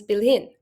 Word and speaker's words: bilhin: Similarly, bili with the suffix in becomes bilhin, with the stress moving to the final syllable.